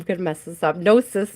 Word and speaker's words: gnosis: Gnosis, gnosis, gnosis. I think it's just gnosis. I'm pretty sure the G is silent. Pretty sure the G is silent, guys.